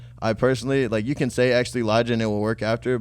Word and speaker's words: X3lijah: So that's how you told them that's how it's pronounced? Your name? It's X3lijah.